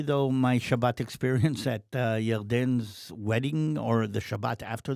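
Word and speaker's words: ירדן: And names, how do you say, biblical names that you would kind of recognize with the J in many cases have a Y.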